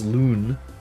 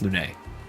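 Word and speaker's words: Lune: Well, it's pronounced Lun really because everyone says Lun.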